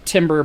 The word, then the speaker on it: timbre: Timbre is an obnoxious French word that's spelled timbre but pronounced timbre, and it basically means the quality of the sound, right?